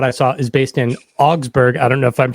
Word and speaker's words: Augsburg: Auxburg or like you can say Auxburg. I mean, Germans would pronounce it a little different, but that's just what it is. Whatever.